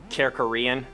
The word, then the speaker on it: Kerkorian: Kerkorian. Wow, that's a rough one. Spell it for our listener.